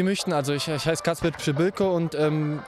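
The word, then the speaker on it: Przybyłko: Wie sie möchten, also ich heiße Kacper Pschibilko und ausgesprochen wird es einfach wie, wenn der Lehrer einfach in die Schule kommt und sagt Psch und einfach ein Bilko hinterher, aber die können mich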